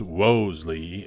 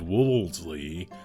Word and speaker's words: Wolseley: About half the people out there say it's pronounced Wolseley, and the other half says Wolseley.